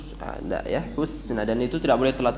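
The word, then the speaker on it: الحسنى: Cara baca husna maju mundur. Wa saddaqa bil hus. Maju maksimal haknya kena berharakat dhammah. Penahanan di huruf sin mundurkan. Hus. Jadi bukan hus. Ada ya, husna, dan itu tidak boleh telat, kadang telat ya.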